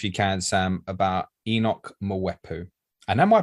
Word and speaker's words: Mwepu: Tell the listeners, if you can, Sam, about Enock Mwepu. And am I pronouncing that correctly? I'm not sure. That sounds about right. Mwepu, yeah.